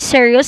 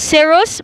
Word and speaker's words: serous: the pleural membranes so let me correct the pronunciation it is not serious it's serous membranes called as the plural membrane so what